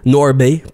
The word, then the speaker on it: North Bay: North Bay, faut pas prononcer le H.